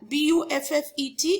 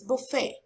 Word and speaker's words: buffet: I haven't been able to jot down all, but B-U-F-F-E-T is buffet and not buffet.